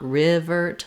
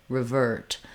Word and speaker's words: revert: symbol in the dictionary I can use the same sound I just don't want revert but revert really short and reduced so for some people it helps them to think of it as a schwa like revert it doesn't really matter if I use I or ah I just want to be very short in duration that's called a reduced